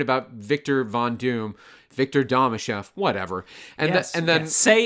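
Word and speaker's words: Domashev: Victor Damachef. Whatever. And and then say say his name, Chris. It's Victor Damashef.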